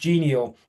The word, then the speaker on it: Genio: So, we are actually Gio, pronounced Gio.